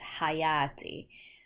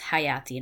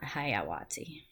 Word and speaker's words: hayati: So it's hayati, not hayawati.